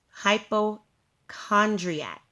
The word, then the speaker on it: hypochondriac: is the word hypochondriac again that word is pronounced hypochondriac now this word is also a noun now